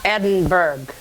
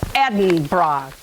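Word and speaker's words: Edinburgh: ended up in edinb it's not Edinburg it's Eden bra okay Ed's in the bra that's how you remember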